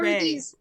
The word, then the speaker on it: Ra: So that annoys the shit out of me all the time, because I'm just It's Ra Well, or or Ray. Both are these correct.